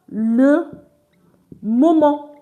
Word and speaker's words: moment: And please, it's not pronounced as ment, it's pronounced as mon. MENT is pronounced as mo, mo, mo. I will explain the pronunciation for you. First, EN is on. And from our video, we did, I think it was avoir or so, we said we do not pronounce letter T at the end of the word.